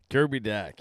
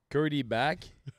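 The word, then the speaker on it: Kirby Dach: Puis assez de le prononcer comme faut. Kirby Dack. Exactement. Non, mais depuis hier, on fait des entrevues à Cogeco, 98.5, puis je suis comme, Kirby Back. Kirby Dash.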